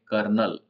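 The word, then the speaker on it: colonel: सीओ एल ओ एन लेकिन इसको बोलते हैं कर्नल इसमें कर्नल he pronounce S कनल not phonetically date इसमें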